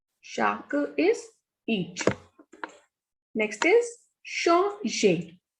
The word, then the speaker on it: changer: Next is changer. The pronunciation of E and R is A. So the pronunciation of this is changer, to change.